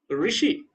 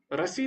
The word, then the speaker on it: ऋषि: तो ना रू होगा ना रा होगा और री होगा ऋ ऋषि ऋषि होता रसी नहीं होता ऋषि तो जब वही ऋ